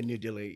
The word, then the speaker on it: New Delhi: Yeah, New Delhi, India.